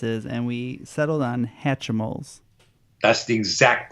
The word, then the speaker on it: Hatchimals: We were kind of fighting over what the pronunciation of this is, and we settled on Hatchimals. That's the exact pronunciation.